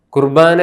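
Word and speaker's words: ܩܘܪܒܢܐ: പൗരസ്ത്യ സുറിയാനിയുടെ ഉച്ചാരണമാണ് കുർബാന എന്നുള്ളത്. നമ്മുടെ സുറിയാനിയുടെ വെസ്റ്റ് സിറിയക്കിൻ്റെ കൃത്യമായ ഉച്ചാരണം കുർബോനോ എന്നാണ്. പൗരസ്ത്യ സുറിയാനിയുടെ സ്വാധീനം മൂലമാണ് നാം ഇപ്പോഴും കുർബാന എന്ന് പറയുന്നത്. വെസ്റ്റ് സിറിയക് ഉച്ചാരണം കുർബോനോ.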